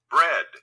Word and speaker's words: bread: Bread. Burr. Burr. Ed. Try and write it down. Buh. Here's that EA that makes a short E.